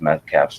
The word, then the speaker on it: Metcalfe: And that's sort of what today's show is about, this Metcalfe's Law. Has anyone heard of Metcalfe's Law before? No. No, I haven't. Spell it?